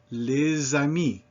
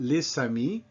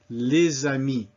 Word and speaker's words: les amis: vowel, such as ami, that becomes les amis, and that is a Z sound, not les amis, but les amis.